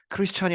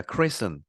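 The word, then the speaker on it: christen: to 이번에 이게 발음이 크리스천이 아니라 크리스입니다. 크리슨.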